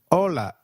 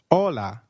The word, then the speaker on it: hola: hi hi is called hola in Spanish can you try that please hola did you get that right hola remember H is always silent in Spanish we do not pronounce it let me give you